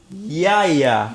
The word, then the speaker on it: Yahya: I actually think it's pronounced yeah. Yeah. Nigga's name is Yeah. Yeah, Abdul-Mateen II. Motherfucker, that's his name right there. You tell me his name's not yet? No, that's Yahya.